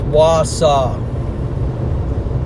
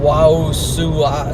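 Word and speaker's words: Wausau: Okay, someone's telling me how it's Mason's reacts telling me how to pronounce it's W was guys. It's Wasa instead of Wu Sua.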